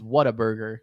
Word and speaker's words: Whataburger: it Mike oh uh when I was a kid it was Water Burger yeah uh but it is Water Burger is the correct way to say it it's it's the